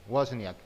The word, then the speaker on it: Wozniak: A Steve Wozniak, ¿cómo se pronuncia? Wozniak, sí.